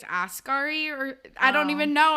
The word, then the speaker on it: Asghari: I said Sam Ashgari, and I think it's Asghari, or I don't even know.